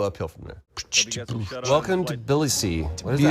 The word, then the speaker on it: Tbilisi: Welcome to Tbilisi.